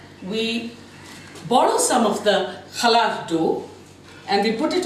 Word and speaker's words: challah: What we are starting with is a challah, a Jewish festival bread. Although it's spelled C-H-A-L-L-A-H, the Middle Eastern cha is very prominent.